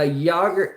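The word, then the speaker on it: Jäger: buddy um yeah uh yoger Jagger or um in the US some people say Jagger but yogger Jagger uh it's pronounced Jagger I'm pretty positive anyways Jagger uh were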